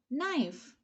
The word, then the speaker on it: knife: wednesday it's one t so d is a silent letter knife knife k is the size okay we won't